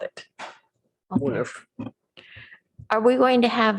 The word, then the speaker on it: woonerf: Thanks for asking, because a lot of people have been mispronounced. It's Woonerf. Woonerf? Woonerf.